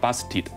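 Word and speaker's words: Bastet: 名字叫做 Bastid，这个我们的发音叫 Bastid。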